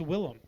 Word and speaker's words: Willem: Yeah, but his name is pronounced Willem.